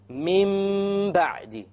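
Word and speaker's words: من بعد: We have Noon Sakin followed by a Ba. How do we pronounce it? Min Ba'di.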